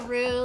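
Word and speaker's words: roux: And so this is a rue like not like kangaroo, you know, like a pooh, but it's spelled like ru like r o u x like lu who sings like you know bullet pro.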